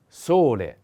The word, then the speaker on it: sole: a wind the next sole sole the accent is on o solei is a masculine